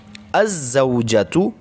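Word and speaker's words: الزوجة: So with the addition of al, it will becomes az-zawjatu. Az-zawjatu means the wife. So in all of the above examples, we see that the al is written but not pronounced.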